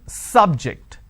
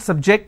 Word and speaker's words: subject: so i say bio biology is an interesting subject i'm i'm stressing on the first syllable okay now i'm using another example please don't subject the students to any tests so here my stress has moved to the second syllable for example when i